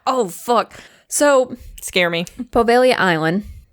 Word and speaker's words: Poveglia: Poveglia Island, weirdly enough, there's a G in there somewhere. Okay. Yeah, it's just pronounced Poveglia.